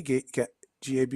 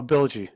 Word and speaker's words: bilgy: Gaby? Am I pronouncing that right? No, it'd be Bill G then. Oh, Bilgy. Yep. That makes sense.